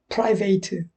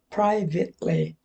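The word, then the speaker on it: private: 먼저 in privet 여기 끝에 철자가 ate로 끝나죠 동사라면 에이트라고 말하고 형용사나 명사가 되면 이터라 그래요 프라이베이트 일부 그렇게 발음하려는 사람이 있지만 동사가 아닙니다 형용사입니다 그래서 pribity 그래서 사적으로 개인적으로이 말입니다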